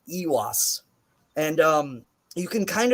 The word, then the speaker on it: Eihwaz: sit and bit and then there's the long e sound in this room ewas and um you can